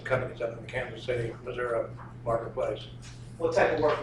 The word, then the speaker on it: Missouri: D Highway Richards Missouri how long you say Missouri I don't have to get used to that